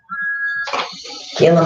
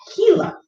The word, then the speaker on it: Gila: Gila monster, though. Oh, that's not how it's pronounced. It's the Gila.